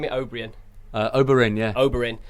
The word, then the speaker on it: Oberyn: Oberyn, yeah.